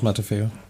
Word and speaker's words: Matafeo: And the stars Rose Matafeo, I think, how you pronounce her name? Yeah, Rose Matafeo.